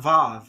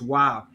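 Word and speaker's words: waw: it's not the sound it's not vav it's wow it's originally in the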